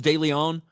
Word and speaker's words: DeLeon: Ponce, isn't like Ponce de Leon? I say DeLeon. That's with the accent on the O.